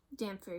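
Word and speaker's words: dhampir: Like, honestly, I'm really not, because it is still a Demphier community. Did I say that right? Dampier, yeah.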